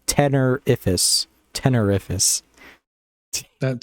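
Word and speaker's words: Tenerifis: fan favorite 10 holy i've been saying it wrong this entire time because i've always said tenepherus but yeah now that i'm looking at it it's tenerifus tenerifus almost like terrific yeah i like tenephrus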